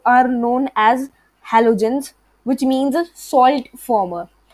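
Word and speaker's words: halogens: सो are known as हैलोजेंस which means salt farmer. तो हैलोजेंस भी आप में से शायद बहुतों को नहीं आता होगा प्रोनाउंस करना, बहुतों को आता भी होगा. तो हा एलो एंड जेंस, हैलोजेंस.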